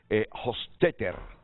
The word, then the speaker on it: Hofstetter: Pero se anticipó aquí Juan José Reyes a pronunciarlo, Hofstetter.